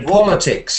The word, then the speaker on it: politics: do from Politics the politics yeah that's got to um politics it's the first stress politics Politics the voting